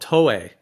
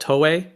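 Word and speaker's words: toé: So there's another plant called tolli. It's called tolli.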